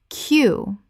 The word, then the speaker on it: queue: Common mispronunciation. Q U E. Correct pronunciation. Q Only the first letter makes a sound. The other four letters are entirely silent.